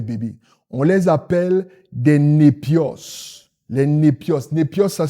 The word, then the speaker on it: népios: Non, autant pour moi, excusez-moi, les népios.